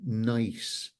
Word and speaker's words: gneiss: It's actually, that color is Louisian gneiss. Gneiss spelt with a G, which is probably the oldest rock on the planet.